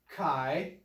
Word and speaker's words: Chi: be six hundred and sixty-six now that is pronounced Chi and that symbol there is pronounced C or